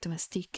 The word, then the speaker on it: domestique: But then again, like domestique is really not that different from a domestic in terms of pronunciation.